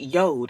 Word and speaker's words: Jord: the company name yo even though it's j o r d it is pronounced yod and I know that